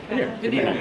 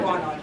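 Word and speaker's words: Bannaehr: Benear, not Barnard.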